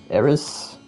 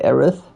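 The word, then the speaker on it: Aerith: And the same goes for Aith. If you skip that, it's uh Aris.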